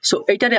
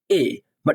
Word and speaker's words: A: প্রথমে ওকে এইটারে আমরা অনেকেই বলি এবা এটা হবে এই।